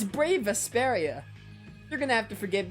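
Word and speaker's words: Brave Vesperia: now if it isn't brave presaria oh my goodness i forgot you're the one that pronounces our name wrong it's brave asperia you're gonna have to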